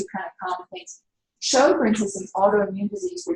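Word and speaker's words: Sjögren's: And this autoimmune disease is called Sjogren's. It's Swedish, so it's Sjogren'. It was a physician who first identified this, but it's pronounced show, like a Broadway show, and grin, like you grin. But anyway, Sjogren's, it's a fairly common autoimmune disease.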